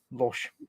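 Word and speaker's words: Łoś: It should be L with a line through it, O, and then S with an accent, but they haven't got them in the name. It's Loche.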